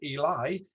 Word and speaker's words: Ely: My surname, of course, even though my family pronounce it Eli, is very Ely, and is often given Old English etymologies related to the eel, eel catcher, eel place, and so on.